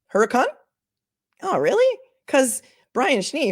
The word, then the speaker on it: Hurricane: as a manipulative tactic um yah Sherry it's pronounced Huracan Huracan oh really cause Brian schne who's my favorite reporter from Salt Lake City kuv he he said it was called hurricane all right if it's Huracan it's Huracan but